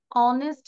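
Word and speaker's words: honest: হি ইজ অ্যান অনেস্ট ম্যান। দেখো তো এই যে উচ্চারণটা আমরা করছি, আমরা কি অনেস্ট বলতেছি? নো, এইচ এটা কনসোনেন্ট, এটা কিন্তু সাইলেন্ট থাকছে।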